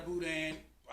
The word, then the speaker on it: boudin: You just get it, put it in your bag, tell them you got a boudin, $1, and you roll with that.